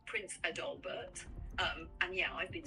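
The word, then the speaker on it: Prinz Adalbert: It's pronounced roughly Prince Adalbert.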